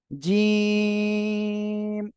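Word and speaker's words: جيم: মাশাআল্লাহ, জিহ্বার মাঝখান তার বরাবর উপরে তালুর সঙ্গে লাগিয়ে শক্ত আকারে এই অক্ষরটি উচ্চারণ হবে, জিম, একসাথে বলেন।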